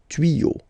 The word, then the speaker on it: tuyaux: You won't add S at the end, but instead of S, you will put X. Okay, des tuyaux. Same rule, you don't pronounce it.